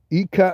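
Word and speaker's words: hija: So they don't do that all on the J in the middle. It just sounds like a K.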